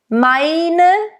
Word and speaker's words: meine: Meine, and again the E at the end it's not like meine, meine. It's not really an A and it's not really an A. It's somewhere in between.